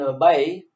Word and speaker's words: obey: In enjoy, obey. So please take notice. Take notice here. Enjoy and obey. The stress is on the second syllable.